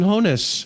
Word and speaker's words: Hoeneß: Sebastian Hoeneß.